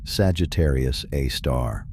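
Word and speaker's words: Sagittarius A*: super massive black hole known as Sagittarius Aar, pronounced Sagittarius A star.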